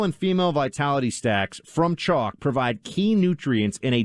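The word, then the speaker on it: Choq: is phenomenal stuff friends it's spelled c-h-o-q they're herbal supplements that just help you get the focus energy and drive to get through your day chalk put years into researching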